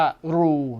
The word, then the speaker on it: Roux: u x นะ ครับ ถ้า เป็น ภาษา ฝรั่งเศส น่า จะ ออก เสียง ว่า รู นะ ฮะ ซึ่ง ไม่ รู้ ว่า